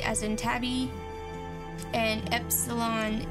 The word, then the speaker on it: epsilon: as in Tabby and Epsilon is short e as in Gardia okay so these are